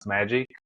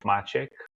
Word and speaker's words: Maciek: have problems pronouncing it it's a Polish name so for the 25 years of my career the compact HP and HP I was better known as magic that's the closest pronunciation to the Polish name of machek uh and uh well